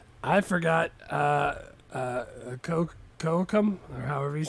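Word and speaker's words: Kocoum: Uh uh Coam or however you say his name is. Kakoam. Kakoam.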